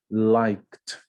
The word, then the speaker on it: liked: Liked, liked, né? O ED, ele não é pronunciado ED, ele é pronunciado t. Nesse momento aí, quando o verbo, o som do verbo original final é p ou k.